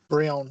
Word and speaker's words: Brionne: And then I felt like its transition from Poplio to Brionne, is that how you say its name? Brionne, yes.